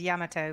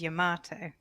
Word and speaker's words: Yamato: it into a spaceship apparently correct japanese pronunciation also is yamato because they don't really emphasize uh syllables but americans say it is yamato yeah yeah i'd say